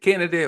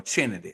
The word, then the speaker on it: Kennedy: then you had uh Kennedy is it Kennedy or chennedy no it's Kennedy Carter okay Kennedy Carter from the sky